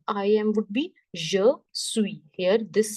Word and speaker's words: suis: This S won't be pronounced. Je suis. The sound of UI is we.